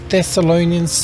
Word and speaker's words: Thessalonians: Ephesians, Philippians, Colossians, 1 Thessalonians, 2 Thessalonians, hard to say, and I don't know why Colossians with a double S is a sh and Thessalonians is a th, but hey, 1 Thessalonians, 2 Thessalonians, 1 Timothy, 2 Timothy, Titus.